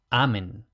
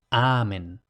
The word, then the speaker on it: amen: Amén. Y aquí, ojo, como habíamos dicho, en latín no hay palabras agudas, por tanto, amén, no amén, que si no me equivoco, en español es aguda porque en griego era aguda, pero en latín no.